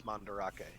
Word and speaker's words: Mandarake: is it's like Japanese it looks like it's spelled Mandrake but it has an extra a in it yeah which is why it's mandarake speaking of I'm gonna